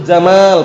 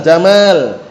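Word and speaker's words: جمال: Panjang jamal jangan pendek jamal itu. Hah diperhatikan ya. Innallaha jamilun yuhibbul jamal. Ingat-ingat yang bacanya yang pendek. Dulu pernah ada yang baca pendek salah juga ngertikannya. Hah. Kalau dibaca pendek, innallah jamilul jamal. Sesungguhnya Allah Taala itu indah menyukai unta.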